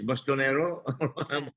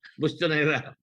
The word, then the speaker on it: Bustonera: How do I pronounce this? Bustonero? Bustonera.